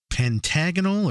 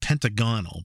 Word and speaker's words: pentagonal: Is it pentagonal or is it pentagonal? Personally, I've heard it pronounced both ways. The Merriam-Webster Dictionary, however, gives the pronunciation as the first one, pentagonal, so that's what I'm going to go with, as it's likely the correct one.